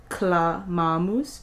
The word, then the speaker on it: clamamus: The C here is hard, clamamus, because it is followed by a consonant.